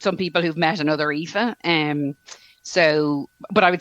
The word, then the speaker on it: Aoife: York right your um your name is IFA and um it's spelled a-o-i-f-e which is right the Gaelic way of spelling it right that's right yeah yeah so it's like the Gaelic version of Eve or Eva and so yeah it's